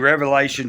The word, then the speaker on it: Revelation: end of it and it's not Revelations it's Revelation maybe I'm just a stickler